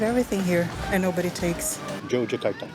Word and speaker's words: Yogyakarta: Yogyakarta. Jogjakarta, there you go. There we go. Jogjakarta, you write it with Y, but you pronounce with J.